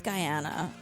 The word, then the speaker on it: Guyana: Jones in Guana guy how are we saying it I think it's Guyana I can't get another